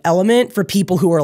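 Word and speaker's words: LMNT: I'm unsure element um elemente is how they spell it but they call it element Rob wolf invented that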